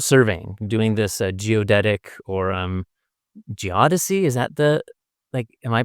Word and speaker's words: geodesy: are scientists out surveying, doing this geodetic or geodesy. Is that am I pronouncing that correctly?